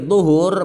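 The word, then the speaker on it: طُهور: Jadi zuhur bacanya adalah dha dibaca dhammah menurut pendapat yang dipilih ulama dan pendapat mayoritas. Tetapi ada juga yang memperbolehkan dha-nya dibaca fathah walaupun maknanya adalah pekerjaan bersuci.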